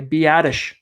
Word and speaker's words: Biadasz: I finally figured out how to pronounce that name, by the way, Biadasz out of Wisconsin.